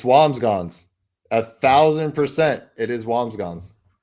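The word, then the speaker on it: Wambsganss: It is Wamsggons. I'm looking at the pronunciation right now. Whams and then G-S. Wamsggons.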